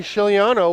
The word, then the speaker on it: Giuliano: in the middle and Frankie Giuliano with the quiet G it's gonna pass it